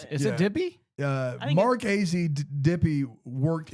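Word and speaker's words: Dippé: DePay. DePay. The pa- I mean, for the way it's spelled, that was a great pronunciation for AZ Brad. Dippy. It's got to be It's A.Z. Dippy.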